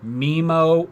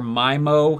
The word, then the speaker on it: MIMO: will be once again tomato tomahto or MIMO or my mo however you want to pronounce it traditional wireless lans depend